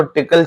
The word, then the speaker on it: Tcl: दूंगा टीसीएल एस एच इसको टिकल shell भी प्रोनाउंस किया जाता है तो टिकल शेल या टीसीएल शेल अब मैं शेल के